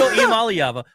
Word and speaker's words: Iamaleava: It's Nico Iamaleava.